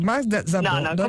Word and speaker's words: Magda Szabó: scusare la pronuncia ho la pronuncia magiara per pronuncia magiara Ma certo Ma certo certo Magda zabo in poi diremo Magda zabo comque Allora lei